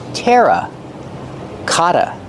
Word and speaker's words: terracotta: Pronunciation terra kata. The double t makes a fast d.